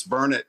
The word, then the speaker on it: Burnet: on the back because I knew that it was burnard and everybody say says die it's Bernett no it's not Bernett don't say that so I wanted you to clarify that for me well Pat it's good to I'm sorry the big saying here locally is it's burn it darn it learn it that's it well uh